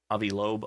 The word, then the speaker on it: Avi Loeb: Every time you have Avi Loeb on, that's the correct pronunciation.